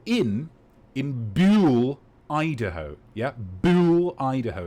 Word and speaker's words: Buhl: Yeah, Buhl, Idaho. It's spelled B-U-H-L.